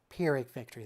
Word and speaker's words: Pyrrhic victory: Pyrrhic victory. That's how you pronounce.